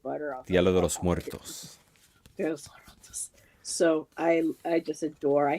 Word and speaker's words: Día de los Muertos: I always do, but the Dios de los Muertos. No, Muertos. Dios. Día de los Muertos.